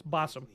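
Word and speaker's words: Basim: so that's how he's that's how his name is pronounced it's basam not B have our questions what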